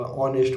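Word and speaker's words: honest: का प्रयोग करते हैं क्यों एच हमारी सा साइलेंट होती है ववर हो गया हॉनरेबल हो गया नबल होगा ऑनेस्ट हो गया जहां पर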